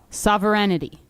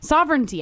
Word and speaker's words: sovereignty: Sovereignity. Correct. Sovereignity. Now, somebody said in the office, I don't think it's a I don't think someone said sovereignty. Sovereignty, I think that's how you say it.